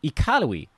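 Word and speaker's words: Iqaluit: taught me that the capital up there is pronounced ikarui you want to be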